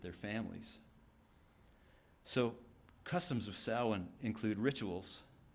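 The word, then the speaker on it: Samhain: traditions this is the time of sin which is spelled s a m ha a i n that's an anathema to those of us like me who the child of two English teachers so sin marks the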